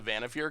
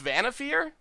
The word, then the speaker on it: Vannifar: It's Vannifar? Alright, Vannifar. I thought it was Vannifar. That makes sense. Vannifar.